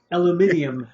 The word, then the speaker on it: aluminium: Aluminium, as the British would say. Well, all right, aluminium. Aluminium.